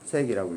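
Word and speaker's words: 파섹: 단위 PC라고 쓰고 읽을 때 파색이라고 읽습니다.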